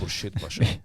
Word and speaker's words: Khurshid Pasha: And yes, that is how that's pronounced, Khurshid Pasha. I was about to say. That's his name. You can thank the Persians for that, because Khurshid is a Persian name.